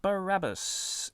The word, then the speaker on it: Barabbas: carpentry uh yes uh barabbas or bar abbas depending on how you uh want uh other pronunciations are available uh reading second soldier